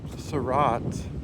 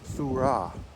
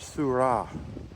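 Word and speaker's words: Seurat: Uh George Surat is actually pronounced Surra George Surah.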